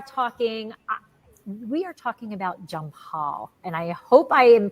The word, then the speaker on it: Jampal: and we are talking we are talking about jump Hall and I hope I am pronouncing that correctly junior did I correct that